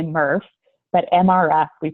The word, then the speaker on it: MRF: recovery facilities don't ask me why we say MuRF but MRF we pronounced first or you can just say recycling